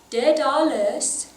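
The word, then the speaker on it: dedales: De dales. De dales. I like to maybe put the emphasis on the middle syllable.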